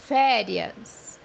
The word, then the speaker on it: férias: مثال عندنا كلمة أجازة بمعنى férias, férias, زي ما انت شايف في طريقتين نطق لكلمة أجازة، ممكن بمعنى férias férias أو férias.